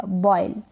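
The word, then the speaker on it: boil: फिर यहाँ पर है ओ आई, ओ आई को हम ऑय प्रोनाउंस करते हैं, क्या प्रोनाउंस करते हैं ऑय, जैसे कि ओ आई आ रहा है इन सब में, इसको हम ऑय प्रोनाउंस करेंगे, बी का ब हो जाएगा और एल का ल हो जाएगा, बॉयल, क्या है बॉयल।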